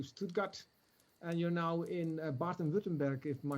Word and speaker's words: Baden-Württemberg: You're from the north of Germany, went south from Hamburg to Stuttgart, and you're now in Baden-Württemberg, if my pronunciation is correct.